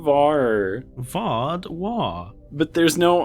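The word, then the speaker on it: Vaadwaur: w a a r vwa it's not my accent you're putting an r in there is it V or v v say it's lovely V you're saying VAR V War but there's no R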